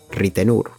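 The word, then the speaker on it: Ritenour: Another one that comes to mind is Lee Reitner, who here is called Lee Ritenur. That's how people say his name.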